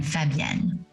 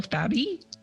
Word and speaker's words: Fabienne: It's actually two syllables. Fab as in fabulous, yen as in Japanese currency. Oh. Fabienne. Ooh, I really like that. Instead of adding the extra syllable Fabi.